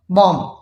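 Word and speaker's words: bomb: When B comes after M, जब बी एम के बाद आए तो हमने उसको क्या करना है, उस बी को साइलेंट रखना है, ठीक है। फॉर एग्जाम्पल, आप लोग के लिए एग्जाम्पल है बॉम्ब, ठीक, ये क्या है, बॉम्ब।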